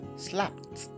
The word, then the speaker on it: slapped: ed at the end, then the ed there is pronounced as though it's a t. So the ed takes the sound t. So your word is slapped and not slapped, slapped